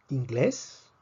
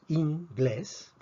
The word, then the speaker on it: inglés: antes veamos otros ejemplos tomemos la palabra inglés vemos que el acento la fuerza está en la e y la palabra ingleses